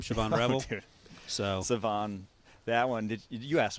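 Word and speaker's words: Shavon: my name right but s h a v o n is somehow pronounced saone saone yeah yeah yeah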